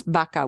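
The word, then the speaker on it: vaca: sometimes they call that B B and B baka because the word for cow is Baka with the v-a-c-a sochica here is say is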